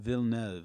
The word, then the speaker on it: Villeneuve: Villeneuve.